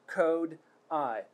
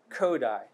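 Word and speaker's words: Kodály: kodai method it's present it's pronounced code i codai try with me coda try it again kodai good job i'm exemplifying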